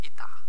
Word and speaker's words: eta: Okay, so efficiency symbol eta, pronounced as I-T-A, eta.